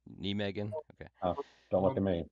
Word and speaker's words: Nijmegen: yonder um above uh nigan nean correct pronunciation nean okay don't look at